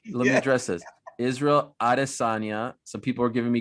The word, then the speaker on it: Adesanya: Israel Adesanya.